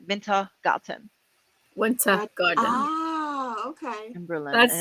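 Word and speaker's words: Wintergarten: winter like Winter Garden Winter Garden yeah but it's instead of a d it's a t in German minta gotten Winter Garden Oh okay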